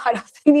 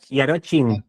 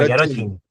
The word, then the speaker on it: Jarocin: dice, nosotros le decimos Jarosín y nos reímos con mi papá, y Aroshi. Justo te iba a pedir eso. Sí, en español sería Jarosín, pero en polaco es Jarocin. Yarochin.